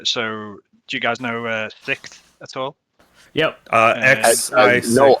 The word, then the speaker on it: Sikth: So do you guys know Sixth at all? Yep. I know of it. TH. Yeah. SIKTH. Yeah, they had. Oh, okay. I always just like pronounce it UK I6. Yeah, there's so Sixth.